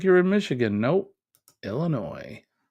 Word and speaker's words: Illinois: you're in Michigan no Illinois that's pronounced Illinois for you folks that uh may not be from around these parts Joe says this concert